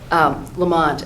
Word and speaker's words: Lamont: Lamont and Malloy sound, it's similar letters and 2 syllables. It's Lamont. I think he does have